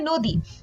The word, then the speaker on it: নদী: যেমন এখানে দেখতে পাচ্ছি আমরা নদী, নদীতে বানানে আছে দ দীর্ঘ ইকার, কিন্তু আমরা যখন উচ্চারণ করি বা আমরা যখন উচ্চারণটা লিখব তখন কিন্তু আমাদের হ্রস্ব ই উচ্চারণ করতে হবে এবং হ্রস্ব ই লিখতে হবে।